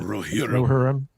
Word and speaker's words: Rohirrim: pronounce it. Rohirrim.